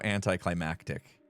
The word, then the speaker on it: anticlimactic: that would have been so anticlimactic and yes that is the proper way to say that word climactic I I learned